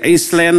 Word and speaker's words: island: dibacanya hours eh ial dewasanya ada esnya tidak diucapkan Ilen ada Island harusnya lebih ditetapkannya Airlines itu banyak dalam bahasa